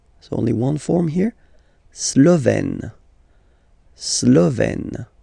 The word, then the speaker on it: Slovène: La Slovénie, so only one form here, Slovène, Slovène. Remember, E accent grave, you open it, est, Slovène.